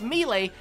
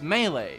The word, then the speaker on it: Melee: Smash Brothers games since melee and yes that's how we pronounce it in Australia at least as how I pronounced